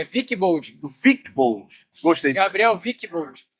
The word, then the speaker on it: Wickbold: Nada mais, a pronúncia está certa. É Wilkebon.